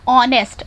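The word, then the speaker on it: honest: will कभी आना चाहिए यदि हमने कहा ऑनेस्ट अंश में एक साइलेंट है और ओके साउंड के ही सके हिसाब से हमें pain का प्रयोग करना है इसी तरह एक का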